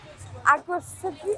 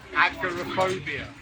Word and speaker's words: agoraphobia: - Agrophib, how do you say it? - Agoraphobia.